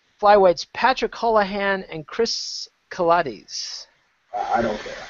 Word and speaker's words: Kates: Patrick hollahan and Chris Kates I don't care rhymes with Pilates I don't care either